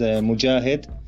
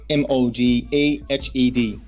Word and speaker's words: Mojahed: Hi, for you and for your audience, you can pronounce my name as Mojahed, Mojahed, Mojahed.